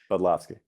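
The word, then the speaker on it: Budlofsky: Budloski.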